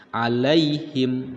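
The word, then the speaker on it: عليهم: harokah nah disini lihat dalam kalimat alaihim Apakah ini huruf Line atau madlin kalau Mad berarti ini debatnya panjang kalau misalkan disini hanya terdapat huruf clean saja maka dibacanya pendek alaihim Nah karena huruf depannya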